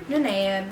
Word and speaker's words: Nanea: So now I have to call her Nanea because I got a lot of hate on that video that I was pronouncing her name wrong.